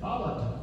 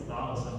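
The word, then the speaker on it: θάλασσα: That's Attic Greek for the sea, and the Ionian Greek was Thalassa. And that's what we use, that kind of term. So if you want to say the sea today, it's Thalassa.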